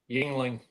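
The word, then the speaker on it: Yuengling: Yingling.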